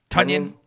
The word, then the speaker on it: Tonyan: And they've got some good, throw-in work from Tonyan, right? That's how you pronounce his last name, the tight end. Tonyan.